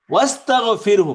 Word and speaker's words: ওয়াস্তাগফিরহু: ওয়াস্তাগফিরহু, মূলত ইস্তাগফির, ওই ওয়াও আসার কারণে ওই আলিফটা উচ্চারণ হচ্ছে না।